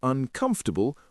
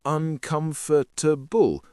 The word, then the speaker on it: uncomfortable: And did you notice I said uncomfortable with four syllables, not uncomfortable with five? It's more common to pronounce it this way.